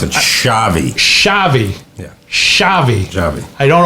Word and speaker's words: Xavi: in class most burgers eaten ugliest feet also zavi is that how you pronounce his name i told i texted you how to pronounce it shavi shavi yeah shavi i don't always read what